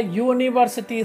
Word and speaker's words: university: For example, she is a university student. So here student is there, university is also noun, but here the university's first letter is showing a vowel, but it is pronounced as yo.